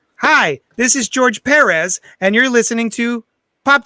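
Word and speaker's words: Pérez: hi this is george perez and you're listening to pop tarts podcast so um i pronounce it perez because that's how he pronounced it when he announced himself on my show that's a good reason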